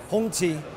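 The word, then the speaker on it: 红旗: Here on the Hongqi stand, actually you don't pronounce it like that. I think it should be Hongqi. Now the Chinese viewers will know if that's right or wrong.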